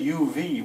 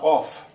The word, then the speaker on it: of: that off here smearing we don't we say uv we say of now not off but we spell it the way it was in middle english the word night is